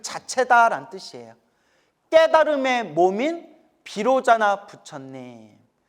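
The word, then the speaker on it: वैरोचन: 자체다 뜻이에요 깨달음의 몸인 비로자나 부처님 비로 자나를 인도 산스크리트어 원음으로 바이로 차나라 해요 무슨 나 바이로차나 바이로차나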